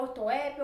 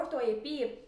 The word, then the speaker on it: ortoépia: está tudo certo então se você falar ortoépia ou ortoepia tá ok eu deixei aqui dois